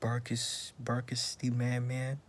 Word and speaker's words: BERKSTMANMAN: Yeah, I'm gonna react to the story of BERKSTMANMAN. That's how you pronounce it.